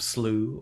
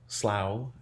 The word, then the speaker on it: Slough: So named because our people could canoe through Hope Slough, or Slough, depending on how you say that word, Slough, if I'm spelling it out in English.